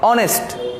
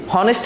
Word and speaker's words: honest: এরপরে দেখো অনেস্ট, এটাকে আমরা কিন্তু HONEST হনেস্ট বলি না, আমরা কি কেউ হনেস্ট উচ্চারণ করি, এটাকে বলি আমরা অনেস্ট।